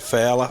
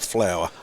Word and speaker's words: Fowler: that's good to see you got it Fowler not flower like you been calling it all day I do apologize for